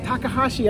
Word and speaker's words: Takahashi: Takahashi, I said it right? Yeah. I got nervous up there for a second. If you spell, look at the way it's spelled, you just sound it out.